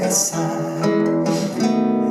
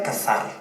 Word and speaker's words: casar: Jesus, antes mesmo de casar. Aqui tem uma anedota muito boa, porque é casar, não? Como se pronuncia? De casar, de matrimônio, casar. Como é? Casar. Casar. E eu dizia cazar.